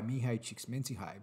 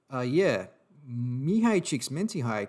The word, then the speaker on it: Mihaly Csikszentmihalyi: Now, the flow state was initially coined by Mihaly Csikszentmihalyi back in 1975. And I'm pretty happy with that pronunciation, I have to say, because if you're